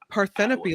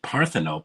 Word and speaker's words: Parthenope: I mean parthenope what is that I mean paropy like a maybe a Greek goddess or God or something actually they pronounce it parthenope and she said it's actually it's it turns